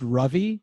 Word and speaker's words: Ravi: picked up um but it's pronounced like lovey dovey ravi but i also can